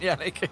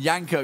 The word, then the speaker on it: YNCK: I mean, he says it's Yannick, but there's no way that YNCK is pronounced Yannick. To be fair, I mean, I know Sadakist obviously mentioned Yanko yesterday, and I remember